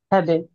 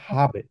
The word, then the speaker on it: habe: হ্যাঁ, হ্যাঁ, মাখে ফার্স্ট সেন্টেন্সে আর সেকেন্ড সেন্টেন্সে হচ্ছে হ্যাবে। এটাকে হ্যাবে বলি না, এটাকে বলেন যে আমরা হাবে।